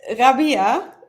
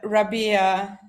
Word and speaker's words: Rabea: you say your name so it's Rabia in in Arabic and uh Rabia I guess in the US um so we've got